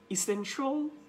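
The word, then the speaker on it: essential: আমরা বলতে পারি কমার্শল, সি আই এ এল বা টি আই এ এল, এই ধরনের যে সমস্ত এন্ডিং আছে শব্দ যেখানে শিয়াল উচ্চারণ হয় সেগুলোকে আপনি স্টপ করে আপনি বলবেন শল।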